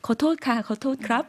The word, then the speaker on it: ขอโทษ: 태국 분들이 거토크랍 하면서 지나갔던 것 많이 들어봤던 것 같은데요. 그러면 한번 인사말 발음 들어보도록 하겠습니다.